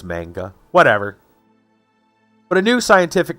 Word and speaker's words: manga: like mang manga yeah I'm pretty sure it's a hard G not a soft G I think it's manga whatever but a new